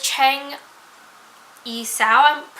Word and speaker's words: Cheng Yi-sao: The next one is one of my pirates, and that is Cheng Yi-sao. It's like Cheng, then I, then Sao.